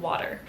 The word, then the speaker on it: water: votre classique britannique, mais le "T" se prononce plus comme un "D" mais c'est un son différent.